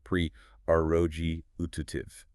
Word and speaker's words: prerogative: US pronunciation. Preoji utiv.